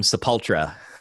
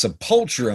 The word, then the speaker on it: Sepultura: so yeah but they they put the emphasis on the wrong part of the word that's subpultura man yeah it's like